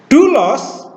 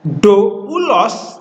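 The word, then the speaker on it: δοῦλος: Kalau diftong diucapkan satu vokal. Jadi bukan dibaca doulos tetapi dulos.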